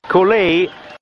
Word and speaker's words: Colay: Cooley, la pronuncia corretta, 101.7 al peso, invece Tyson è arrivato a 98 kg e mezzo.